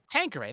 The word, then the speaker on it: Tanqueray: Tanqueray. Thank you, Joe, for getting the pronunciation right there.